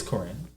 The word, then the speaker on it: Karine: uh is corrine jean-pierre am i pronouncing her name right because i just want to make sure yeah i think you are corrine or jean-pierre i know jean-pierre but i think it's corrine it's corinne more than likely if